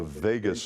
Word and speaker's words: vagus: going through something called the vagus nerve, pronounced just like Las Vegas, right?